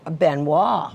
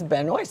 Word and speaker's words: Benois: The Benoy the Benois Benois. Yeah. Pat talked about that too. He said, "I used to think it was Benoy, but I've learned it's benois."